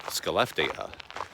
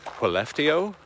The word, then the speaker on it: Skellefteå: And if you look at it on a map, you would assume that it's pronounced Skellefteå. But I'm still working on the pronunciation. It's actually pronounced Skellefteå. No idea how that works at all.